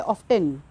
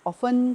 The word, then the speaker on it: often: ऑफ्टन, ऑफ्टन wrong है। यहाँ पर टी जो है, यू कैन see students will नोट down the different word, आप लिखेंगे, लेकिन यहाँ पे जो टी है ये साइलेंट रहता है, इसको नहीं पढ़ते, इसको सिर्फ OFEN ऑफन पढ़ते हैं, राइट।